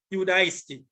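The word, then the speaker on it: Ἰουδαϊστί: It is pronounced soristi, while the Greek word for the Jews' language is Judaisti. which sounds like Judah, even in the Greek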